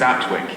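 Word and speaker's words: Appletreewick: stayed in was a village called Apple Tree Wick which I think is aptwick is what the locals say very pretty Charming Village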